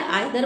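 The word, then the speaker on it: either: चाहे आप इसे ईदर बोलें या आइदर बोलें, दोनों प्रोनाउंसिएशन सही हैं।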